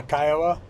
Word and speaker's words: Kiowa: Or Kiowa, how do you pronounce that? Yeah, Kiowa.